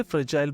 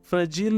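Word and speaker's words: fragile: ध्यान दीजिएगा दोस्तों मेरे प्रोनाउंसिएशन पे, इसे फ्रेजाइल बोलेंगे, फ्रेजील नहीं बोलेंगे इसे।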